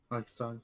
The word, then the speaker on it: Reichstag: That's how you pronounce it, right? Reichstag? Reichstag, yeah.